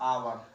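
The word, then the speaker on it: hour: और इधर आवर, H is silent, आवर पढ़ते हो, ऑनेस्ट पढ़ा जाएगा है, ऑनरेबल।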